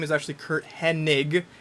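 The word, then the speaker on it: Hennig: Perfect as Kurt Henning, spelled with an N. They're absolutely certainly introduced him. But in this timeline, it's Kurt Henig, and it always has been Kurt Henig.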